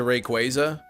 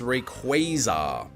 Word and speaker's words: Rayquaza: hunt by the time we get to Rayquaza and that'll determine what I want to do